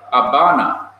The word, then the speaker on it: Habana: In Spanish, we say Havana, which is the capital of Cuba, but they say Habana. They pronounce it as a B.